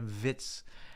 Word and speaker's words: Wirtz: of comments and everyone said it's it's it's pronounced with a in in German in obviously so flooding vitz.